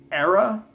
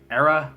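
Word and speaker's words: Erra: Number 26 is Drift by Era. Sorry, Era. Hopefully I'm saying it right. It's spelled E-R-R-A.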